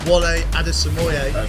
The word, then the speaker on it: Wole Adesemoye: Wole Adesemoye. Amazing pronunciation.